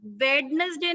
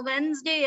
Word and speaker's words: Wednesday: बट बेटा वेडनेसडे नहीं है, वो वेंसडे है। डी साइलेंट है, डी नहीं बोलना हमने।